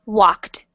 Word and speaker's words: walked: this one W and you don't need to pronounce the D very very loud just make it tiny like this walked Walked good try this